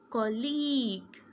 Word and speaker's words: colleague: Okay, GUE sounds like G. Tongue. Say with me, tongue. League, league. Colleague, colleague.